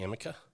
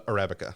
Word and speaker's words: Arabica: the Robusta and the how do you say Amica uh Arabica Arabica is the reason the the Arabica is